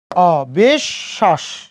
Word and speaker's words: অবিশ্বাস: মাঝে, ওই জন্য তালবস্যের উচ্চারণ কয়বার? 2 বার। বিশ্বাস, অবিশ্বাস।